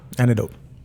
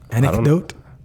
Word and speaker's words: anecdote: Antidote. A what now? Antidote. Would you like me to pronounce a C? Anecdote.